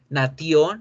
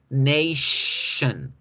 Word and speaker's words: nation: También cuando las palabras tengan la sílaba tion, ¿sí? Cuando ustedes vean que la palabrita está escrita con tion, o cuando tengan la palabra escrita cial, la sílaba tion o la sílaba cial, ya no vamos a decir nation ni decir nación, vamos a decir nation, nation, nation.